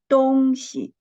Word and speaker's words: 东西: But when it was read as 东西, the second syllable, we read it the neutral tone.